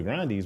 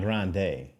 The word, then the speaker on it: Grande: She was like, "Yeah, well the Grandes blah blah blah." She talking about her family with her grand she's like she's Italian. It's not Yeah. It's not Grande. It's actually Grande.